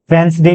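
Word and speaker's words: Wednesday: वेडनेसडे, Thursday, ठीक है, कई लोग इसको वेंसडे भी प्रोनाउंस करते हैं आजकल अमेरिकन इंग्लिश में, थर्सडे, फ्राइडे, सैटरडे, इसको ऐसे टी लिख देता हूं मैं सैटरडे को, ठीक है।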